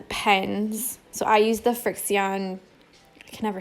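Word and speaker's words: Frixion: wet so some pens so I use the Frick Seon I can never say it right but it's the first it's Kirk C on friction friction fricassee on heat erasable pen and they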